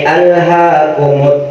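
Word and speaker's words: أَلْهَاكُمُ: Maka dibacanya hamzahnya harus jelas. Contoh, A'udzu billahi minasy syaithanir rajim. Bismillahirrahmanirrahim. Alhaakumut takatsur. Nah, hamzahnya harus dibaca jelas karena ini hamzahnya hamzah fiil.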